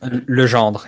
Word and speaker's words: Legendre: I'll grace the stream with a proper pronunciation. Oh wow. Cum. That's his first name. Cum. That's a lot of work. And Legendre, right? Legendre, yeah. Comme Legendre. So, Comme Legendre.